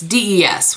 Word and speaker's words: des: day nude as lip it's des which is from my French bringing my it was not brought up French for my French in high school you don't know generally pronounce the S unless there's something after I can't remember anyway I